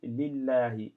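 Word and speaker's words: لله: Vous voyez bien que sur Lillahi, euh, ici, Lillahi, le la n'est pas vocalisé. Et pourtant, ça s'apprend Lillahi. On prononce bien le la. Et pourtant, c'est pas vocalisé.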